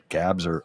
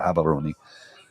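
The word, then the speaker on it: Gaborone: live in habon Gabon it's spelled Gabon g a b a r o n e but they pronoun gabs are or habon and that's where most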